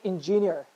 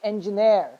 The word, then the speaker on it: engineer: right pronunciation that's why when you say engineer that's a wrong pronunciation it's engineer the right one the last one is the syllable that is supposed to be stressed it's not ingenious it's ng nair you see i'm raising my pitch engine there uh similarly